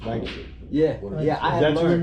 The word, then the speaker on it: Lancaster: New Jersey, it was Lancaster. 46. Yeah, And then when I moved down here, I learned real quickly it's only two syllables, Lancaster.